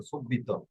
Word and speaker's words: subito: Relay scoprile, scoprile subito, সোবিত সুবিত এভাবে পড়েন কেন ইয়া কোন subito. অঞ্চলের ভাষা যেন আপনার সিসিলিয়ান নাপোলি ওই ধরনের মতো সুবিত এটা উচ্চারণটা হবে সুবিত Siciliese, হ্যাঁ সিসিলিয়াতে শুনি